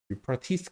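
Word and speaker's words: Euphrates: 유프라티스 그런 거예요. 영어식 발음으로는 그렇죠.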